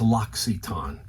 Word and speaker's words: L'Occitane: It's L'Occitane. L'Occitane. So next time you're in the mall, you're going to be saying to yourself, that is pronounced L'Occitane.